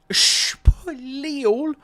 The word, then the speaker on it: Spiel: Gabe is going to be in Spiel. No, Gabe won't be in Spiel yet.